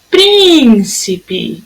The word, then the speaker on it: príncipe: Príncipe. Olha, tem um acento, a sílaba tônica é a proparoxítona.